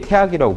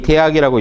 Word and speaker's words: 大學: 고대의 태학이라고 불렀어요. 학교 이름이에요. 원래 이 대학이라고 읽으면 안 되고 태학이라고 읽는 게 본래 맞아요.